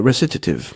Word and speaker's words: recitative: like an opera wrasses at Eve recitative yeah recitative that's so I checked on YouTube the pronunciation before the recitative anyway yes that says